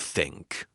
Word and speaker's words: think: Many people say tink instead of think or this instead of this. The correct way is to put your tongue gently between your teeth and push air out.